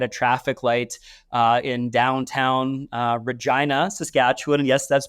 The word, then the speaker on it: Regina: moment sitting at a traffic light in downtown Regina, Saskatchewan. And yes, that's pronounced correctly.